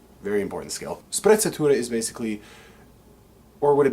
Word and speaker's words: sprezzatura: to the concept of sprezzatura this wonderful delicious italian word that just rolls off your tongue especially if you want to roll your r's very important skill sprezzatura is basically or what